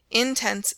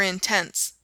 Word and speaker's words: intense: Hospitable for hospitable, intense for intense, etc. The errors consisted chiefly in changing the accented syllable.